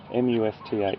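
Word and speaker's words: musth: M-U-S-T-H, that's spelled, everyone. M-U-S-T-H. It's a little bit of a mouthful. Must. So you say the M-U-S, must, and then th at the end, must.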